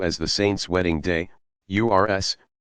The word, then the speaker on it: urs: The occasions are sometimes referred to as the Saint's Wedding Day, URS, pronounced OORS.